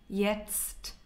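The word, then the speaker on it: jetzt: live now in this moment yet in let's pronounce yetst again yet it's very difficult I pronounce once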